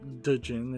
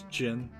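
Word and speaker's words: Djinn: benevolent division it's not digin it's Jin this is how it's pronounced in English which is just Arabic Genie at the end of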